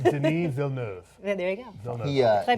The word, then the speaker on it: Villeneuve: Mel is ahead of how do we say Denis Villeneuve? Denis Villeneuve.